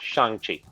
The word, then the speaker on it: Shang-Chi: Shang-Chi, and yes, it's pronounced Shang-Chi.